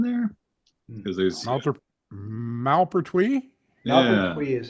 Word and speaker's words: Malpertuis: Yeah, they pronounce it two different ways in the trailer. Oh, they do? Yeah, one of them is the Malpertuis is the French way, and Malpertuis is the German going on there.